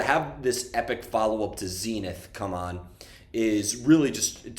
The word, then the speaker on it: Zenith: Um, but I the uh I'll also say we say Zenith. I think Zenith is the American pronunciation, right?